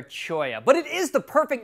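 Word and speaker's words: cholla: called a teddy bear Chola that's right a teddy bear Chola snug with me put forever it's actually pronounced teddy bear choya but it is the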